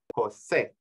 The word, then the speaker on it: José: name is Jose and the little accent over the E is called a in Spanish um it tells the reader where the accent should go so in this case it's Jose the accent on the E not say right in